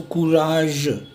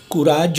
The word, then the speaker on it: courage: And always remember the sound of G here, जो मैंने आपको बताया था, जैसे जे की साउंड थी कैजुअल और यूजुअल में एस वाली, वही साउंड जी की है, ज. सो कुराज, कुराज नहीं, ज.